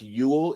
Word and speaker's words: Youell: So And the person that the field was named after was named Frank Ewell. It's spelled Youell, and he was a mortician, which is hella odd to me that they would name that field after a mortician.